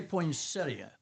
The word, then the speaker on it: poinsettia: But if it's plural then you would say poinsetta. Poinsettas. Yeah. Some people say poinsettia. I mean that is the way that it's spelled and if you were I mean it is an i at the end when you spell that.